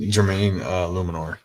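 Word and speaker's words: Jermaine Eluemunor: Jermaine Luminor.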